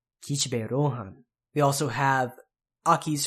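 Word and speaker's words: Kishibe: Next is the character Kishpe. Kishpe. Kishpe. Kishpe. Another whispered vowel there, the shi.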